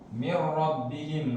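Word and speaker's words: مِنْ رَبِّهِمْ: ketemu dengan huruf ro Bagaimana cara membacanya mirbihim langsung tidak tidak disertai dengan dengan dengung beda sama Idam bunna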